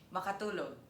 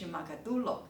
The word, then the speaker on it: makatúlog: The next one: Can sleep (makatúlog) Fall asleep (mákatulog) One is makatúlog; one is mákatulog.